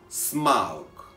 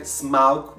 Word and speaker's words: Smaug: I actually like to say Smaug, but as far as I know, it's pronounced like smoke.